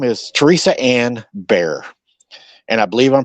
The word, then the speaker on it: Bier: But anyways, um so her name is Teresa Ann Bier. And I believe I'm pronouncing her name right. B I E R is pronounced "Bier" in this situation, correct?